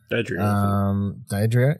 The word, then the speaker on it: Daddario: Alexandra Daddario, how do you say her name? Daddario, yeah.